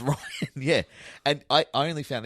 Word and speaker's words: Rian: Hey, I made a Or Rianne, as I called you for years, because your name's spelt weird and I never heard it pronounced out loud. Is it just pronounced Ryan? It's Ryan, yeah.